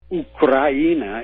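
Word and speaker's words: Украина: Ukraina is how it's pronounced in Russian.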